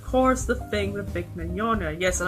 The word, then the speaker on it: Mignogna: And of course the thing with Vic Mignogna. Yes, and I pronounced it as Magnoga in my video made on the whole situation months ago.